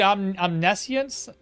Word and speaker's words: omniscience: Omnisient stress on the second.